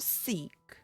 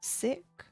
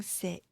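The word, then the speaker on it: Sikh: I think they were see it's not seek I can't remember how you actually say it now sick I think it's pronounced like sick and uh in their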